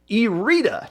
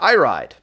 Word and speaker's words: Irida: In Group C, Irida, I believe is how that is pronounced because I watched the Moray Tavern podcast. Irida, not Iride, went 3-0.